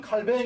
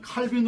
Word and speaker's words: 칼뱅: 예 칼 100 예 원래 프랑스 오나전 칼 변 위한 칼뱅 이 되는 거죠 근데 뭐 그렇게 바라는 사람 누가 있습니까 그러니까 여러분들은 칼빈 으로 바람도 좋고 캠프 늘어 뭐 발음에서 좋으니깐 거기에 대해서 어 다른 이야기하지